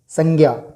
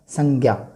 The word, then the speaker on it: संज्ञा: वैसे आप सब जानते हैं ज्ञ न होकर के ज्य है, तो मैं मुख सुख के आधार पर ही इसका उच्चारण करूँगा संज्ञा। तो सबसे पहले देखें कि